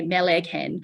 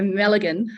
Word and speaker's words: Malaghan: the Mulligan Institute and some people say melee can um it's a silent G so Mulligan um Mulligan Institute and